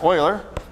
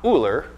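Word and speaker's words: Euler: reason the reason is Oiler here Oiler Oiler not ooler Oiler it's spelled like Oiler okay he noticed that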